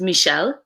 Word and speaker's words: Michelle: e ll e but my mom pronounces it michel cuz she's from quebec in like not your mom's French but like it's just Michelle and we all make fun of her for mispronouncing my sister's name cuz my sister prefers